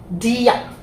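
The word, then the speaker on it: dear: হিসেবে যদি দেখি, তাহলে ডিয়া, ডিয়া। আমরা আটটা একটু উজ্জ্ব থাকবে, ঠিক আছে, আটটা উজ্জ্ব থাকবে। আমরা ডিয়ার বলবো না, আমরা বলবো না যে ডিয়ার, ডিয়ার আর বলবো না, কিন্তু আমরা উচ্চারণটা মানে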